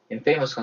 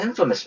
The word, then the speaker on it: infamous: infamous가 아니라 액센트 앞에 시킵니다. infamous입니다. infamous.